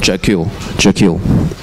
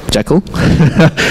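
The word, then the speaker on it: Jekyll: This is called Jackal, right? So any alternative pronunciations? No? Jackal?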